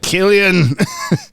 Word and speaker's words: Cillian: Where like the opening scene of is it Cillian Murphy? Is that how you say it? He's like, I'm not Irish. Cillian.